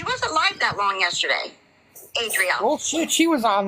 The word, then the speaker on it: Adrielle: Ariella, yeah, Arielle. Adrielle. I always say her name wrong.